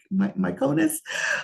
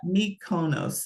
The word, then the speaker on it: Mykonos: So when you think of Greece and you go to these three popular places, Mykonos, I always have a hard time.